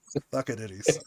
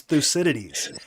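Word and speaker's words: Thucydides: People have sat me down and were like, George, it's Thusidities. And I can say it Thusidities, but I will never not say it as stuck.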